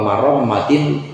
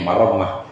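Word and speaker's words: مرمّة: bukan wa muqnatin lima'ashin, tapi wa marammatin lima'ashin bi fathil mim wa ra wa tasdidil mim. Ini menjelaskan harakatnya, jadi bacanya marammah ai islahihi, yaitu memperbaiki ma'ash, memperbaiki kehidupannya.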